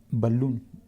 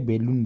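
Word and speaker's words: balloon: ये वाला शब्द सही है जीप ये दोस्तो बलून है ना तो इसको क्या बैलून बोलते हैं क्या बोलते हैं दोस्तो बैलून ठीक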